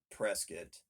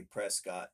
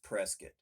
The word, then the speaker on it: Prescott: mountain town is prescott spelled prescott but they pronounce it prescott and if you say that if you say prescott to them up there they'll correct you right away it's prescott so they're very particular about that very proud